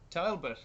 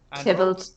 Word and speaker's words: Tybalt: There are obstacles on the way, like Juliet's cousin, Talbot. Tybalt.